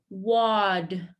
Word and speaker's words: water: English, it does not sound like T. It sounds more like a D. Wad, wad, wad. You want to feel a little bit of a vibration here. Wad, wad. Okay, and then the E is silent. Don't say the E, no E. We go right into the R.